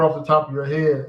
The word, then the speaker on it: Rio: keep that in mind the r words use the h sound you know just just